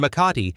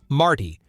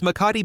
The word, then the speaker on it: Makati: In Makati, an area often pronounced by tourists as Marti, modern high-rise buildings stand densely packed together, boasting sophisticated designs and luxurious facades.